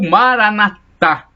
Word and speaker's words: maranata: jesus cristo temos essa expressão maranata ou maranata o assento na última sílaba como ensinam os professores